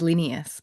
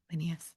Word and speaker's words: Linnaeus: Yeah, I read it as Linnaeus, but that's how I hear it in my head. Linnaeus.